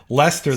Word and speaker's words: Leicester: Leicester, they So pronounce it.